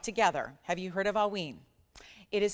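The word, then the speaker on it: Haüyne: the world brought together have you heard of aween it is spelled if you want to research it in advance it is spelled h u y n e okay and not Wayne but aen okay just to make sure in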